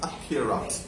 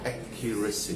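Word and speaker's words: accuracy: word in Bangladesh কিন্তু উচ্চারণ হবে কিউরেট পারফেক্ট উচ্চারণ হচ্ছে একিউরেস কিন্তু আমরা অতটুক পারবো না একিউরেট একিউরেটস বলো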